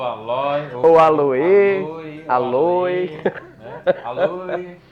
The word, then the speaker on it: Aloe: Aloe. O aloé também, né? Aloé, isso. Sinto lhe informar, mas a pronúncia do latim científico é aloe. Aloe, né? OE lidos separados e a tônica vai estar no A.